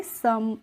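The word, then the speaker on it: some: पढ़ना ही नहीं है अब देखिए एस ओ एम ई है तो यहां पे हम ओ का प्रोनंसिएशन अ करेंगे और ई का हम प्रोनाउंस नहीं करेंगे इसीलिए हम पढ़ेंगे सम और या फिर आप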